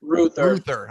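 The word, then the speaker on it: Reuther: Is it Ruther or Royther for Bradford's co-op? Ruther.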